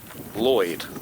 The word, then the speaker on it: lled: Vikings, call a slope Lloyd, spelt L-L-E-D, but pronounced Lloyd.